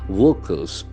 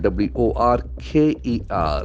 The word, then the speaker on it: worker: us beauty of words workers so here again we get a beautiful noun w o r k e r that Earth sound is very prominent and are is silent here work worker worker someone who works work